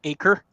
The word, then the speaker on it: Acer: am there we go Acer hey came up sweet it's pronounced acre that's randomly weird but